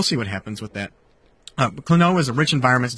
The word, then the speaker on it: Klonoa: Klonoa is a rich environment to tell a great story. Klonoa. Where is he getting Klonoa? Where is he? He's like adding an extra syllable in the middle.